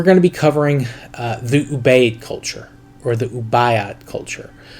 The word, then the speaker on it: Ubaid: And the pronunciation on that is not 100%. I've heard it pronounced both ways, but most people that I've heard actually talk about it use the term Ubaid.